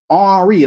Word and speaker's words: Henry: with with with HRI arri that's the French way nigg say Henry arri right spelled the same way as Henry arry don't pronounce the h just like in Spanish you don't pronounce the h they'll say hiot they